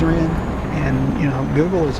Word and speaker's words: Rennes: city's name, I did Somebody told me it's Renne and uh I also had also Googled it and Google said it was Renne and you know, Google is owned by YouTube.